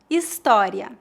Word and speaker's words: história: No português, o H é mudo, ou seja, não é pronunciado. Veja alguns exemplos. História, hotel, humano.